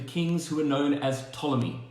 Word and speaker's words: Ptolemy: And the empire, or the dynasty at the time, was controlled by the kings who were known as Ptolemy, with the silent P at the beginning. P-T-O, Ptolemy.